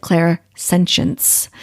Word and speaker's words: clairsentience: of parts um because clairsentience means Claire a clear feeling some people say they pronounce it Claire sentence um so but it